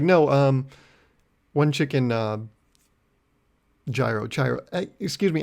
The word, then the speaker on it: gyro: how to say it he's like it's gyro and that's when i remembered it first because i embarrassed myself and then second because i was like oh it's like gyroscope and i don't think